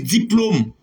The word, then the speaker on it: diplôme: B dit parce que règle dit en français lorsque le E n'est pas surmonté de N conflexe ça se prononce comme E c'est parole c'est idole mais on dit Jérôme on dit on dit Jérôme on dit diplôme on dit rôle les o pas chapeau